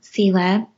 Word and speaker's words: Selah: And so I wrote this book called Finding Selah That's the way I say it.